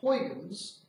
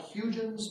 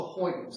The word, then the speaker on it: Huygens: and so on, Christian Huygens, it looks like Huygens, but the Dutch pronunciation is closer to Huygens. Actually, it's closest to something like Huygens, and I can't do that gagging sound with the G.